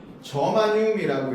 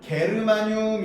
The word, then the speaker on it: 저마늄: 저마늄이라고 읽어요. 네? 옛날 분들은 저 저마늄을 뭐라고 읽었었냐면 게르마늄 이렇게 읽었어요.